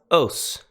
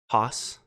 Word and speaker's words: ὅς: Greek word of the day today we have os-- oh it's the relative pronoun who which now then the masculine is os-- I believe if if you're using irassman pronunciations Haas the feminine is e it looks just like